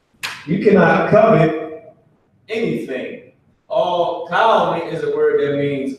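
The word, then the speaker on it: כל: All cow is a word that means all. Not like a cow that you get milk from, but cow, as in like California or something like that. That's how it's pronounced.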